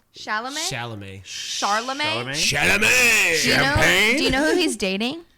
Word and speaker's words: Chalamet: I How do you like pronounce him. his last name? Charlemagne? Chalamet?